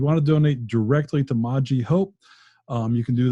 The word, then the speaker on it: Maji: to donate directly to maji hope i keep saying it wrong don't i it's moji moji okay i'm sorry i